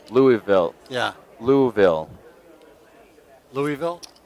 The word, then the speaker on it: Louisville: or I are about to be smacked for pronouncing L lville wrong Louisville yeah Louisville Louisville it's not e louville louville and with that southern draw it's lville well then how do they feel about just